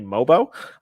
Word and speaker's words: Mogbo: mobo spelled o boo apparently the GEOS silent love that for him uh from the University of San Francisco I will say it will be my fault that ke asked me before the pronunciation I was watching a lot of Clips this morning they kept saying mobo and I was like this is a fantastic either pronunciation with the G being silent or great nickname so